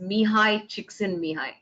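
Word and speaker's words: Csikszentmihalyi: looking for for flo his name's pronounced says mihai chiksin mihai so uh you said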